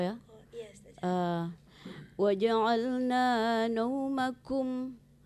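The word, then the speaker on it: نَوْمَكُمْ: Waja'alna naumakum. Kum itu jangan ditebalkan. Kum itu bukan ko ya. Tadi diucapkan huruf ko.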